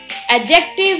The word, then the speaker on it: adjective: remember and which we studied today the word adjective has its d silence so it is pronounced adjective previously all the number words were